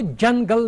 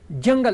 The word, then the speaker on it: जंगल: किया है जंगल, तो हम इसको जंगल नहीं कहेंगे, जंगल। इसको थोड़ा आप नाक से इसका ये प्रोनाउंस करना है, जंगल या कंगन या कुछ और जो नेजल साउंड से आता है।